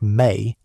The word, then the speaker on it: me: The ME, pronounced roughly like May, are described in the